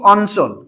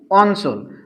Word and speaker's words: অঞ্চল: কিন্তু যে বর্ণের সঙ্গে যুক্ত হবে সেই বর্ণের উচ্চারণটা কি থাকবে ঠিক থাকবে একটা এক্সাম্পল দেয়া দরকার আমরা বলি কি অঞ্চল কি বললাম অঞ্চল আমরা এভাবেও লিখতে পারি অঞ্চল বানানো হচ্ছে স্বরেও